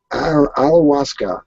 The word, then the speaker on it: ayahuasca: Ayahuasca. That's how it's pronounced.